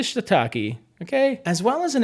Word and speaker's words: shiitake: i want to clarify i could say shatake and get a really nice japanese pronunciation just for the sake of this video we'll stick to shiitake okay as well as